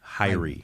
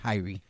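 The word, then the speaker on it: Hirie: Uh H I R I E. Okay. Hyrie. Hyrie. Okay. Like I but with an H.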